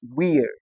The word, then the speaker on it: weird: Now we have a word with ei that does not produce the long e sound. And this is the word the word we know as weird.